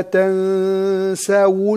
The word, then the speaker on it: تنسوا: طيب ولا تنسوا الفضل بينكم، تنسى في السين مفتوحة وبعدين في واو مضمومة، تنسوا تنسوا ننتبه، ولا وليس تنسوا هذا خطأ، تنسوا ولا تنسوا الفضل بينكم.